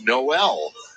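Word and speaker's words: Nowell: and uh want to apologize to jalen noel for mispronouncing his last name it's noel from uw got mckinney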